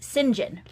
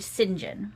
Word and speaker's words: St John: way you pronounce St John in British is singen so that's the British pronunciation okay is his Edward singen okay so which always confused me until recent